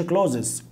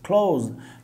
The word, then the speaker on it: clothes: clothes، ما تقولش clothes، clothes.